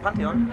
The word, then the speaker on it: Pantheon: Ja, wir sind heute hier in Bonn im Pantheon. Willst du das richtig ausgesprochen? Pantheon? Ja, ist richtig.